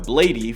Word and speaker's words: Bladee: Is that how you say it, Bladee? I say Blade, but you can say Bladee too.